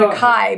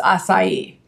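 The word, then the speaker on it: açaí: pink it's spelled AC Ai and some people pronounce it a Kai but I've been told it's assai okay yeah so there's this place called B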